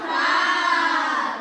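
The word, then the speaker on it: ف: এক ফোঁটা তার নাম ফা তার নাম ফা ফা হাসি মুখে দাঁতে ঠোঁটে আদায় হবে ফা হাসি মুখে দাঁতে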